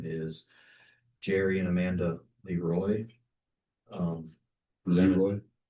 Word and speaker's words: Leroy: Leroy? Leroy or Leroy. Okay. Leroy's how I've been told it's pronounced.